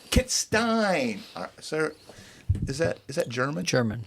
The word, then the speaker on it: Kittstein: Did I pronounce that right? Kittstein. Kittstein.